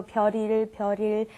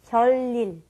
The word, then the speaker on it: 별일: And I noticed that it's hard for me too, but 별일 is very hard to pronounce. Many people have a tendency to go 별일, but we want to say 별일.